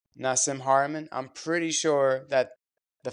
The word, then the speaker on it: Nassim Haramein: Nassim Haramein. Nassim Haramein.